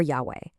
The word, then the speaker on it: Yahweh: Now, because ancient Hebrew didn't really use vowels in its writing, we don't know the exact ancient pronunciation, but it's usually rendered today as Jehovah or Yahweh.